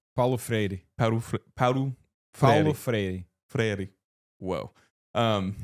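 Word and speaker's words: Paulo Freire: Palo Freri. Freri. Whoa. Um, it's a tough one. It's like two D's. Two Rs. Yeah, I know. But it's like very soft.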